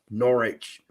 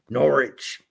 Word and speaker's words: Norwich: it's supposed to be pronounced and we will pronounce it Norwich Norwich it's not like a pirate